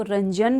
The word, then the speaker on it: रंगन: कस्तूरी रंगन जी द कई लोग इसको रंजन भी बोलते हैं क्योंकि जी लगता है तो कई लोग जो है उसे रंजन बोलते हैं हम इसलिए जो रंगन बोलते हैं दोनों ही में अब स्पेलिंग अच्छे से देख लीजिएगा बाकी दोनों ही ठीक है ठीक तो यह